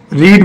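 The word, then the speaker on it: read: रीड में देखिए रीड, रेड, रेड, यहाँ पर प्रोनाउंसिएशन चेंज हो जाएगा, उच्चारण चेंज हो जाएगा, स्पेलिंग वही रहेगी, रीड, रेड, रेड।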